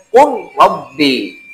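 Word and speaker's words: قل رب: Nah, ketika lam mati ketemu Rob, ketemu ke halaf huruf Ro, itu dibacanya Kul Rabbi. Berdekatan lam dan Ro.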